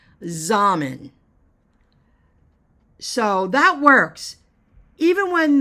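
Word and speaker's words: Xaman: to my Zan account it's X am M and I believe that's how you pronounce it zmen so that works even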